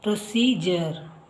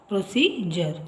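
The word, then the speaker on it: procedure: ಉಚ್ಚಾರದ ಕೆಲವು ಪದಗಳನ್ನು ನೋಡೋಣ ಮೊದಲನೆಯದಾಗಿ ಯು ಆರ್ ಇ ನೋಡಿ ಇಲ್ಲಿ ಪ್ರೊಸೀಜರ್ ಪ್ರೊಸೀಜರ್ ಯು ಆರ್ ಇ ಬಂದಿದೆ ಜ ಉಚ್ಚಾರ ಹಾಗೆ ಯು ಎ ಟಿ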